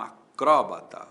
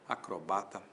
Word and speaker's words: acrobata: Fulano é um acróbata ou é um acrobata? Tanto faz. Acróbata ou acróbata. Acróbata proparoxítona com acento. Acrrobata sem acento. Paroxítona.